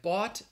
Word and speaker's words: bought: say phrases so i bought a car in this case the g that gh it's silent so it's kind of it's